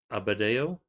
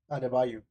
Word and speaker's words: Adebayo: Bam Abadeo. Abu Dios. How do you pronounce it? That one. Adebayo.